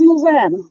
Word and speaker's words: Louisiana: It's pronounced Louisiana. Well, Louisiana.